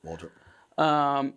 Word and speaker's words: Waldrop: Did I pronounce that right? Yep, Waldrop.